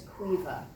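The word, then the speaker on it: Caoimhe: she lives with her daughter whose name is Cueva and I want you to know that it's spelled c-a-o-i-m-h-e it's obviously an Irish name right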